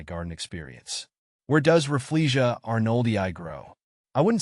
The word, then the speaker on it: arnoldii: The emphasis is on the first syllable of each word, with a slight stress on the E sound in Rafflesia and the AR sound in arnoldii.